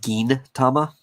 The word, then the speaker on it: Gintama: i i know uh sometimes when you see a g and an i next to each other you have the instinct of saying like j like giant uh but because the